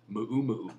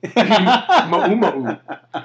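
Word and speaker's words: muumuu: So it's actually, if you talk to like a Hawaiian person, they actually pronounce it Ma'u-ma'u. Do they really? Yeah. Oh, wow. It's like ukulele. Ma'u-ma'u.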